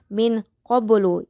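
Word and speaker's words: مِن قَبْلُ: 4 ini terdapat lafaz min qablu yaitu memiliki hukum tajwid yaitu ikhfa hakiki yang dimana terdapat nun sukun yang bertemu dengan huruf ko. Sehingga cara bacanya pun harus samar disertai dengung.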